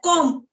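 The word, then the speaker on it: comb: of uh game like com c m b com but the in the pronunciation B is silent so that time I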